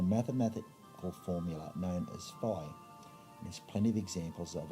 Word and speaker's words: phi: the fibonacci sequence and fee or phi depending on how you choose to pronounce it i'll go with phi there's plenty of websites